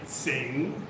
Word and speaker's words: Singha: in salui um well thai people they say sing they don't say singha but the name of